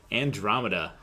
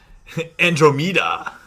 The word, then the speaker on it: Andromeda: And on the right, we've got Steve playing Andromeda. Or if you put the emphasis on the wrong syllable, Andromeda.